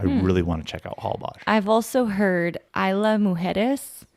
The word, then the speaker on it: Holbox: So that X is Osh, so Holbox.